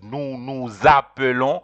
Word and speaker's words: nous appelons: So it is nous appelons. You have to join S with the A of the verb. So you pronounce it, and it is pronounced like a Z. You have to say nous appelons.